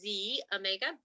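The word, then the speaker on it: xEO Mega: omega i know it says x but it's pronounced z omega um it's the x sound and this one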